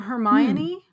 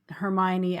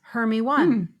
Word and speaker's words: Hermione: Rowling actually addressed that in one of the subsequent books when Hermione actually says how to say her name. But the children in the US just saw it and it was Hermy 1.